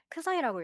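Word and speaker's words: ξ: 크사이라고 읽고요.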